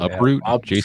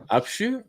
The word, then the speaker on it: Upshoot: That's not how you say his last name. Uproot. Jason Uproot. Uproot. We'll just say Uproot. You say it. Upshoot.